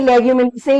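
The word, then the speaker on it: Leguminosae: बाकी इसकी प्रोनाउंसिएशन ऐसे होती है रोजे से, लेगुमिनी से एंड सोलेनेसी।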